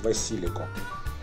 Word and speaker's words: Василико: Правильно говорить Василико.